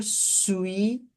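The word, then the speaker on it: suis: nacionalidade J su J sui olha aqui olha que a pronúncia vem até aqui ó sui sui Ok sui sui como se fosse falar suíço sui sui J su J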